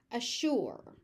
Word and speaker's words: assure: Any as with anything that ends with s u r e, including the word sure, it can be pronounced sure or sure. And they're interchangeable. There's really no difference between them. Pick one that you're the most comfortable with and use that. But know that you're going to hear both.